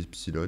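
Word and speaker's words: Epsiloon: Ouais, ça se dit Epsilon, mais ça s'écrit avec le symbole infini.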